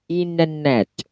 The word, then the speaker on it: internet: Jadi cara pronounce-nya untuk kata internet yaitu internet. Oh, ada R-nya ya, R-nya wajib.